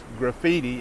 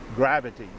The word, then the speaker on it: graffiti: What he meant was graffiti, and he was pronouncing it gravity. So just a wrong pronunciation.